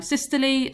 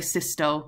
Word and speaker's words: systole: So I say diastole, some people say distole. I say systole, some people say systole. So diastole, distole, systole, systole, whichever your teacher says, whichever you say, I'm going to pronounce it that way. Pronounce it how you like. As long as you spell it correctly, then both are accepted.